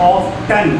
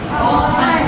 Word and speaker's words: often: वैसे अगर कोई वर्ड बोल सकते हैं ऑफ्टन, क्योंकि टी भी लिखा है ना, लेकिन इसमें टी बोला नहीं जाता है, टी साइलेंट रहता है. तो उसको क्या बोलेंगे? ऑफन. Often. लेकिन स्पेलिंग क्या है? O-F-T-E-N. T-E-N. और बोलेंगे कैसे? ऑफन. Often. टी जो है वो साइलेंट है, टी को बोलना नहीं है.